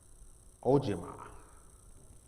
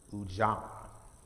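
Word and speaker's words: Ujamaa: just african-american culture um the fourth one is ojima which is correct cooperative economics ujama to build and maintain our own stores shops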